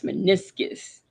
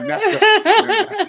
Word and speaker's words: meniscus: Hey, Blue Bear, but it's meniscus.